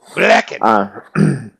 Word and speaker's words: Blecken: Yes, rhymes with reckon. Blecken.